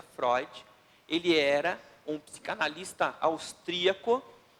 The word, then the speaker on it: Freud: pessoa e obrigado sigmon froid inscreve-se freud porém se pronuncia floyd ele era um psicanalista